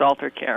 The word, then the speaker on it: Alter+care: Is it Alter+care or Alter+care? There's a plus here. It's just pronounced Alter+care.